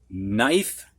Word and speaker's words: knife: All right, we're going to have words now that have a silent K in them before an N. You don't hear that K. Knee, knelt, knit, knife, knew.